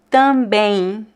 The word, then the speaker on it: também: So here, have you noticed that I did not pronounce the M sound? I do not say também. That sounds really weird. We don't pronounce the M at the end of words in Portuguese.